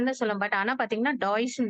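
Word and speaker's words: Deutsch: சொல்லுவோம் பட் ஆனா பாத்தீங்கன்னா டாய்ஸ்னு தான் சொல்லுவோம் நம்ம that is டி இ யூ டி எஸ் சிச் அதான் அதோட ஸ்பெல்லிங் ஆக்சுவலா வந்து நம்ம சொல்றது வந்து டாய்ஸ்ன்னு தான் சொல்லுவோம் நார்மலா வந்து இப்ப நமக்கு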